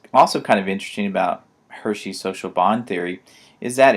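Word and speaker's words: Hirschi: control system and Travis Hershey in the late 60s early 70s and yes that is how to pronounce his name is Hershey even though it's spelled differently than the chocolates but he developed Hershey developed the social bond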